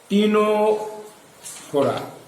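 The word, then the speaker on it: Ctenophora: দেখো বানানটা দেখো, টিনো সি আছে কিন্তু CTENO PHORA। অনেকে সিটা বাদ দিয়ে দেবে। নিডেরিয়াতে প্রথমে সি থাকে, নিডেরিয়াতে প্রথমে সি থাকে, টিনোফোরাতেও প্রথমে সি থাকে।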